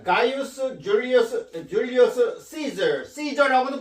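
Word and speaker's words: Caesar: 어, 가이우스 줄리어스 줄리어스 시저 시저라고도 발음하고 이제 케사르라 케사르라고도 하는데 이제 영어 발음은 이제 시저라고 발음합니다.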